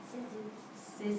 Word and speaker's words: scissors: Scissors. Scissors. Yeah. You don't hear C in scissors.